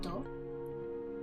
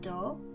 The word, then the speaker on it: 同: The first kanji is pronounced do, and the second name.